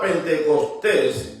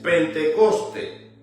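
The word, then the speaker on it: πεντηκοστή: Según el estrón griego número 4005, la palabra pentecostés, pentecoste, no pentecostés, pentecoste pronunciada por las iglesias cristianas evangélicas como Pentecostés o pentecostal, pero en el original es Pentecoste, no lleva ese al final.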